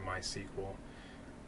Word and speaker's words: MySQL: we're going to be using PHP and then mysq or MySQL um depending on how you like to pronounce it um that is the database that